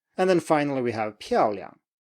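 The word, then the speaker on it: 漂亮: So make sure the stress is really on the first syllable. 漂亮.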